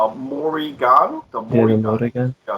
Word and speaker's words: Morrigan: Morrigan. Yeah, so it's spelled M as a mother, Orrigan.